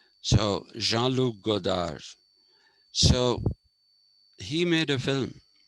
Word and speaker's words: Jean-Luc Godard: You don't pronounce the last D, that's how the French language is. You don't pronounce the last syllable. So Jean-Luc Godard.